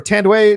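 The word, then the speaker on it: Thandiwe: they're getting together again tandy newton or tandeway newton i think that's how you say it now with the w uh in this and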